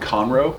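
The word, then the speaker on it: Conroe: just north of Houston called conro which is just a really Southern hickish way of mispronouncing the words cornrow and I actually grew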